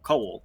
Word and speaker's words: Coel: it's like coal, but with like a little bit of a second syllable in there. So coal.